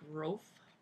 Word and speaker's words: Rolfe: a priest anyway clever and then Frederick Frederick roof good British name it's just not completely non-orthographic pronunciation in the sacred consist the Supreme pontiff